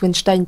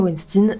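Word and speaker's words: Weinstein: cinéma Harve wensstein et me dites pas n ça se prononce Winstein parce que pour une fois j'ai regardé la prononciation sur Internet HERV wnstein donc l'un des producteurs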